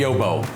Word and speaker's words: Yo-Bo: So we called it the Yobo. It usually starts off with people trying to pronounce it. I used to get a lot of yabos when we first started taking phone calls.